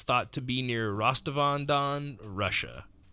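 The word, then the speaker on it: Rostov-on-Don: thought to be near rastavandan Russia 100 pronounced correctly I have it spelled phonetically rostov on Don yeah Rastafari yeah um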